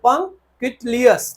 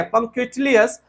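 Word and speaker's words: punctilious: पहली बार आया है तो पं कलियस ठीक है पं कलियस आप इसको प्रोनाउंस कर सकते हैं और अच्छे से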